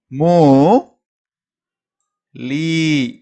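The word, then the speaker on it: मूली: இந்த எழுத்து மூ நெடுல உச்சரிக்கணும். மூ லீ இதுவும் நெடுல தான் சொல்லுவீங்க.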